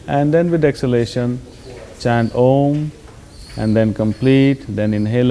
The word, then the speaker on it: Om: But for instance, we will practice this mantra chanting with using the sound of Om, which is 3 syllables, A, U and Ma.